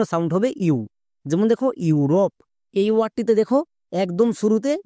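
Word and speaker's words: Europe: word এর জন্য sound হবে ইউ যেমন দেখো ইউরোপ এই ওয়ার্ডটিতে দেখো একদম শুরুতে ভাওয়েল ব্লেন্ডিং ওয়ার্ড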